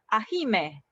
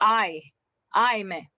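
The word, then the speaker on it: ahimè: um specific sounds yeah so for example this one you don't read that ahi ahime no okay just i i me yeah because the there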